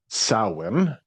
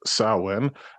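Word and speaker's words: Samhain: So, primarily it's an Irish holiday called sin. Uh some of you might see it spelled Sam Hayne, but it's pronounced sin.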